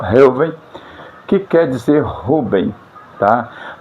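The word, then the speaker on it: ראובן: Ela é transliterada por BH, só que tem o som de V. Então a pronúncia fica assim, Reuven, tá? No hebraico, Reuven, que quer dizer Ruben, tá?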